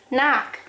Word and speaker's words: knock: you have k n those are the silent letter is k you don't say kanak you don't say knife you don't say knee you say knee knife knock okay now we're going